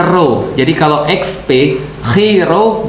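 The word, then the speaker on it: Ρ: Nah, jadi XP itu kalau XP bacanya dalam bahasa Yunani, X itu bacanya chi, P itu bacanya ro.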